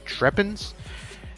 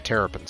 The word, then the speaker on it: Terrapins: I don't even know how to pronounce that. Their team name. Trepins? Terrapins? Yeah, Terrapins.